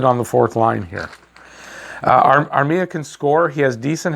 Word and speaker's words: Armia: We'll start off with a trade of Joel Armia. That's how you pronounce it.